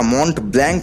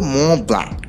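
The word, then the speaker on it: Mont Blanc: ফেলুদা বলল তা পাবো তবে ওটা মন্ট ব্ল্যাঙ্ক নয় লালমোহন বাবু এখন ইউরোপে এসেছেন এখানকার দ্রষ্টব্য গুলোর নাম ঠিকভাবে উচ্চারণ করতে শিখুন ওটা হলো ম ব্ল্যাঙ্ক তার মানে অনেকগুলো অক্ষরের এর উচ্চারণ কিন্তু এখানে নেই ফার্সিতে এটা খুবই স্বাভাবিক লালমোহন বাবু বেশ কয়েকবার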